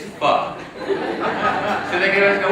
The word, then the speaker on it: pho: And normally, white people like to go to Vietnamese places because they like the idea that they know that it's not pronounced pho, it's pho.